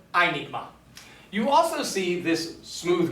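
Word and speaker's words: αἴνιγμα: And so, we pronounce this word not hynigma, but rather einigma.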